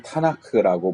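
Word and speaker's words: תנ״ך: 유대인들 자신들은 자신의 성경을 타나크라고 부릅니다. 그래서 토라와 네빔과 케투빔의 첫 글자를 따고 거기에 이제 아라는 발음을 넣어서, 자음만 있으면 발음하기가 힘들잖아요. 트느크 이렇게 하기도 힘들고, 그러니까 이제 타나크 이렇게 하는데, 타의 티, 나의 니은,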